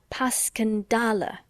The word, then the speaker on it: Passchendaele: "Because that's the way I pronounce it to myself, but I looked it up, and it's more like Paskendale."